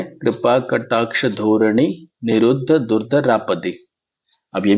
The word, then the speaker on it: निरुद्ध: फिर आप देखें निरु अब ये द और फिर नीचे ध है तो इसके ऊपर हमको जोर देना पड़ेगा हमको दोनों को उच्चारण करना पड़ेगा निरुद्ध तो हमने द के